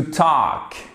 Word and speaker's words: talk: Ici, par exemple, vous ne prononcez pas le L. To talk.